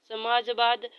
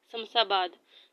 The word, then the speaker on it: शमशाबाद: Sorry मैंने गलत उच्चारण कर दिया। ठीक है। मैं दोबारा पढ़ना। रात हम सहसावाद में रहे। समसाबाद में रहे। ठीक है? देखो मैंने क्या पढ़ा? समाजवाद क्या ही दिखता है। शमशाबाद में रहे।